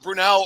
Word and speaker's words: Brunell: recall I know exactly it's pronounced it's Brunel that's not a hard